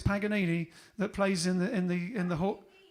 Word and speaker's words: Paganini: There's a Stuart Granger plays Paganini in the movie, and what's that? Not how you say it. That's how you say Paganini in English. What is it? Paganini.